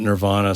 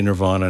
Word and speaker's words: Nirvana: or whatever on Stern, he would pronounce it Nirvana. So I say Nirvana now.